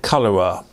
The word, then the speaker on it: Colora: The camera I'm talking about today is a Zeiss Ikon, and I presume you pronounce it Colora. C colour with an R at the end of it, Colora.